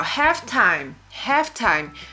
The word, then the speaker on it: halftime: Temos aqui, ó, halftime. Ó, aqui a gente não pronuncia esse L, tá? Então, não vai ser half, vai ser half.